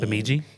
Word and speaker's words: Bemidji: Bemidji?